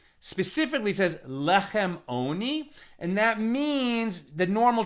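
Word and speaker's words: עני: Ayin is a silent letter, just like the first letter of the alphabet, aleph. And it's the vowel sound that gets attached to it, which makes it sound like oni.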